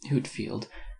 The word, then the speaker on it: Whitefield: In 1739 arrived among us from Ireland the Reverend Mr Whitefield, George Whitefield, pronounced Whitfield, 1714 to 1770, a